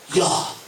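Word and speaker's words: יה: The word I am is a basic syllable that says Yah.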